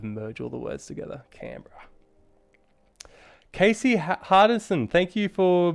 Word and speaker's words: Canberra: guys um all right i always thought it was com pronounced camberer uh not canberra well i guess aussies